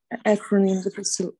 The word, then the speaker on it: acronym: Just acronym, Nikit, first syllable stressed acronym. Acronym. На перший склад. Акронім. Туди, на перший. Acronym.